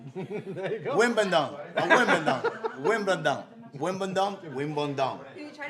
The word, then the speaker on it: Wimbledon: You want to buy a win, bowl, done? There you go. Wimbledon.